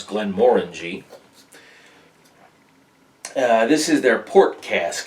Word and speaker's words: Glenmorangie: to pronounce that but that is how you pronounce glenn moring this is their port